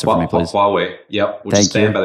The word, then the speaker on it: Huawei: Can you pronounce it for me, please? Huawei.